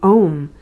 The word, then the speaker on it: om: The O is pronounced as a in dawn.